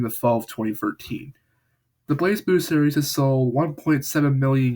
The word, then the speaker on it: BlazBlue: Now here's how I'll pronounce it. It goes like this: BlazBlue.